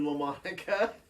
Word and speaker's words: LaMonica: What's up, Cameron LaMonica? Is that how you pronounce it? How do you pronounce your last name? Just like that.